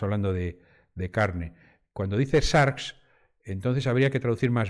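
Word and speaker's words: σάρξ: resurrección de la carne porque carne en griego se pronuncia sharks de ahí sarcófago no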